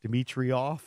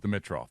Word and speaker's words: Dimitroff: me out I've always thought his name was pronounced Demetri off okay and I was like throwing the eye